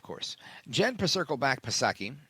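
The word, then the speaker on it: Psaki: her gen Circle back pasaki and Silent P of course Jen Pro Circle back pasaki silent P she was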